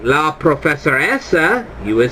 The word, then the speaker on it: professoressa: again, lei è la professoressa. Lei è la professoressa. Gotta watch that E. That E sounds like an A and it's hard to pronounce.